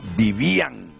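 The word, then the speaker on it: Vivían: Si yo leo así como está ese nombre, diría Vivian. No, lo que pasa es que si fuera Vivian llevaría el acento en la A y ahí lo lleva en la I. Entonces ahí dice Vivian González.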